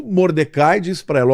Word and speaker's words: Mordecai: primo, o açoiro, desculpe, o Mordecai ou Mordei, né, como se fala em hebraico.